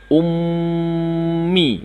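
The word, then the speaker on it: أُمِّي: diganti dengan tasydid maka dibacanya menjadi Ummi ditahan ya Umi Nah kemudian ada lagi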